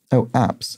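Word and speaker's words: apse: Apps, as in a church, an apps in a church, and that looks, that sort of sounds like the plural of apps. It's a homophone. It's pronounced the same way.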